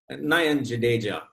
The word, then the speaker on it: Nayan Jadeja: So we're talking today on People on the Grid with Nayan Jadeja. I pronounced your name correctly? Nayan Jadeja, yeah.